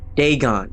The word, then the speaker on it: Dagon: ancient Philistine legend of deeon the fish God deeon that's how you say it okay oh boy